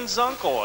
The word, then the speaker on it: Zunkel: Jeff Combs and Ken Zunkel. Am I pronouncing that right, Zunkel? Yep.